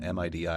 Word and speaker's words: MIDI: stuff gif JPEG MIDI you always pronounce it as a word not as a like an acronym you know or most